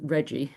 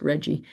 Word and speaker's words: RGGI: And so maybe I should just for those of you who are not familiar with Reggie and it's RGGI pronounced Reggie, it's now up to